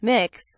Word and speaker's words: Mx: asks that students use MX quote pronounced mix when addressing the teacher